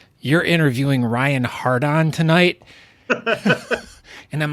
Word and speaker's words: Hardon: so I am here with Ryan is it hard on or Harden it's Harden is how it's pronounced that's good because now the funny thing